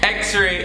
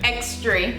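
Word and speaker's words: X-ray: Xray is said. Xtray. Xtray. Let me go do one Xtray. Like where the tray come from? Like that don't make no sense.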